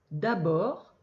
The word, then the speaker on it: d'abord: Le D ne se prononce pas. Bord. D'abord, il ne voit pas le t en temps.